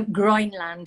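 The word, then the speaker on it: Groenland: that green land yeah so groin land it's that so it's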